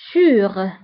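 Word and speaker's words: sous: فاسيل وصعب ديفيسيل فوق سور تحت سو دونك فوق سور تحت سو سور سو وانتبهوا بالنسبة للسو كنكتبوها بأس في آخر الكلمة لكنها لا تنطق سور سو قبل هي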